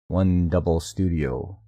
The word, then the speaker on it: 100 Studio: Crest founded the digital animation studio 100 Studio, pronounced One Double Studio, in June 2021.